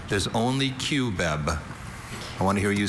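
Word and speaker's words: cubeb: Can I have like all the Can I have alternate pronunciation? There's only Qb.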